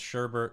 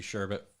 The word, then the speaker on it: sherbet: __ ] off it's Sherbert I've had arguments with people I don't care that it's spelled sherbet I don't care that it's supposed to be sure but you